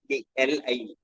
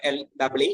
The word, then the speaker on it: Lie: TRY GVE LIE. It's not LEE, it's LIE.